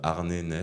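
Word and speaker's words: Arne Næss: avec là un auteur que encore un scandinave ARN NES ça s'écrit a R n e n a e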